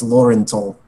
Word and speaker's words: Laurental: You told me that your proper name was Lauren. Lauren of House Tall. I'm Numerian. It's pronounced Laurental.